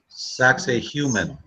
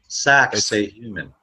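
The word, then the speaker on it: Sacsayhuamán: You know, I also want to point out, just for fun, see how Sacsayhuaman is spelt? Yeah. Sacsayhuman, almost. That's right. That's right. Sacsayhuman.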